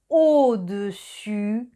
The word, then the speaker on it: au-dessus: Otra vez, cuidado con la pronunciación de au-dessus, en dessous. Au-dessus, primero es el sonido O, A, U forma el sonido O, dessus, el final es el sonido U, dessus, au-dessus y en dessous.